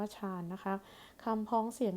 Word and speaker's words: ฌาน: ถึง ชำนาญ แล้ว ก็ ฌาน ช เฌอ สระ อาน หนู หมาย ถึง ภาวะ ที่ จิต สงบ ค่ะ อัน นี้ ก็ คือ คำ พ้อง เสียง ที่ ออก เสียง ว่า ฌาน นะ คะ คำ พ้อง